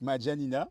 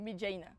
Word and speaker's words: Maidjaina: On se retrouve sur un épisode de Plus avec Madjanina, si je prononce. Non, Medjaina. Medjaina. Oui. Y a pas hein? Medjaina. M-A-I.